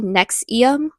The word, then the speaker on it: NXIVM: I just realized I've been pronouncing it wrong. It's actually it's actually Nexium.